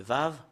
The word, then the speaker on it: Vav: Le Vav, voilà. La lettre V. Voilà, la lettre V, c'est Vav, ou c'est V qu'on le prononce.